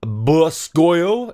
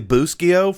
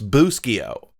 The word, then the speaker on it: Bustillo: props from other companies such as bull school it's actually Bustillo for the rest of you that may not know this it's Bustillo James told me everyone's been saying it wrong and you should feel ashamed of yourselves boo-ki oh stop calling a bus coil anyway I digress Gilbert